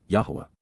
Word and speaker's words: Yahowah: achievements even miraculous fulfillments Yahwa Yahwa the proper pronunciation of the name of Eloha God as directed in his Torah teaching regarding his higher